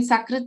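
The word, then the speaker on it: सकृत्: So sa and sha again, if you change the difference in the meaning. Then sakrit and shakrit. Sakrit means immediately, at once, at together, like at once, sakrit. Shakrit is cow dung. So just by changing sa to sha, you find so much of difference in the meanings.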